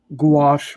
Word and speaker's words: gouache: seriously griffin says uh i just learned how to pronounce it gouache like squash the pink martinis yeah